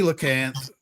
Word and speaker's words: coelacanth: It's Coelacanth. pronounced Coelacanth.